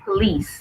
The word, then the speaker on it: police: the but police wait because the stress is on the second police the police and let's